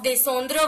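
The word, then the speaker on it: descendent: As you can see in the third person plural form, descendre, I don't put S. So I pronounce it as descend.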